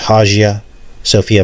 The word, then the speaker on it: Hagia Sophia: the Hagia Sophia Moss it could be pronounced hajia Sophia mosque and this is